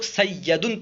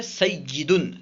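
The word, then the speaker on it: سَيِّدٌ: سیدن سردار، سیدتن سردار۔ اسے بہت سارے لوگ سیدن پڑھتے ہیں، یا پہ زبر پڑھتے ہیں، جبکہ صحیح تلفظ ہے سیدن۔ سیدن یا میں زیر ہے، ٹھیک ہے، کسرہ ہے۔ طالبن۔ طالبن کا معنی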